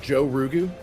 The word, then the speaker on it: Giaorugu: this icy dippy tip i think it's probably pronounced joe rugu jorge a subspecies of